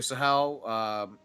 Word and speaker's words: Sahel: The map is Sahel, or at least so that's how I would pronounce the. Yeah. So Sahel, 3 TPs on the middle of the map, livestock available.